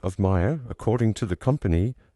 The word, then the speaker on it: Mayer: The pronunciation of Maya according to the company is like m i r e as it rhymes with fire.